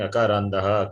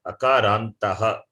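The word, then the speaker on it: अकारान्तः: You're saying akarandaha, akarandaha, akarantaha. Ta, it is the first letter of the fourth class.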